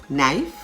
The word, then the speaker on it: knife: k words such as nak k-n-a-c-k knee k-n-e-e knife k-n-i-f-e knowledge k-n-o-w k-n-o-w-l-e-d-g-e and nob k-n-o-b have